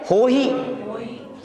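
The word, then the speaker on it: होइ: बहुत से लोग बोलने में सावधानी नहीं रखते, हवाई बोलते हैं। क्या हवाई नहीं, हो ही। पड़मम हवाई मंगलम नहीं, पड़मम हो ही मंगलम।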